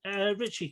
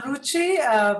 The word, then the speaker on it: Ruchi: I will ask Richie, could you go next, please? So I'm Ruchi, pronounced as Gucci.